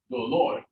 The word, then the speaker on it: dolor: So where's the accent? Do or lor? Yep, dolor. But if I say dolores, it stays on that one, but it's only because it's the second to last syllable.